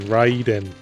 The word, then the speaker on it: Raiden: But, Well, that's the Japanese pronunciation. Raiden.